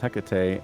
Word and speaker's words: Hecate: He says Hecate has two pronunciations, Hecate and Well, Hecate.